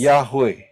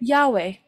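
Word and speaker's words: Yahweh: he dan pengucapannya adalah and the pronunciation is yahwe yahwe jadi inilah nama Sang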